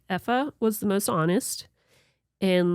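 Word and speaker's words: Aoife: EA. A O I F E. So we're not used to pronouncing that.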